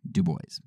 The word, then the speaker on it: Du Bois: name a lot and it says that du boys actually pronounced his own name du boys now whether that was